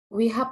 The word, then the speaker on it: WeHub: Kemudian dengan WeHub ya, WeHub atau WeHub nih bacanya? WeHub Pak. Oke, WeHub.